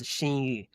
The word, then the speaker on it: Xinyu: So X pronounced as SH, so it's Xinyu.